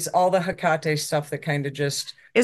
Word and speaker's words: Hecate: But that's the Hecate I know.